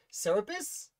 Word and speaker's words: Serapis: is a really tricky one i was the serapis i think it's pronounced serapis sir saripus serapis the serapis a ship that